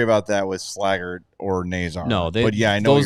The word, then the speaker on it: Nazar: Out of his mouth, it was Nazar. Nazar.